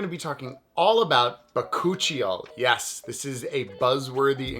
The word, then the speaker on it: bakuchiol: video i'm going to be talking all about bacocchio yes this is a buzzworthy ingredient i'm sure